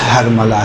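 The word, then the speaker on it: حرملہ: یقینی طور پہ ہرملہ، دیکھیں اصل تلفظ ہرملہ ہے، جسے ہم لوگ اپنی زبان میں ہرملہ کہتے ہیں، صحیح؟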